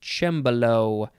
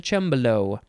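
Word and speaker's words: cembalo: next is it is spelled c-e-m-b-a-l-o it is pronounced chambolo below noun from uh circa 1801 the synonym is just harpsichord it's sort of like a piano it's a chambello this is an italian word next and last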